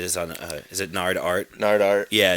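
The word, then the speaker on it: Gnardart: on uh is it nard art nard art yeah it's an art art yeah gn yeah g silent g g n g-n-a-r-d-a-r-t check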